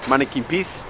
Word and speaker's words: Manneken Pis: I asked him how to say it and he did say Manneken Pis, which is like if you could see, it's got like a little cherub on.